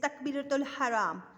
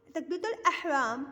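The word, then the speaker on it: تكبيرة الإحرام: After attention, there is takbiratul haram. What is takbiratul haram? Ihram. Okay. Takbiratul ihram by saying Allahu Akbar, standing, and how we say this?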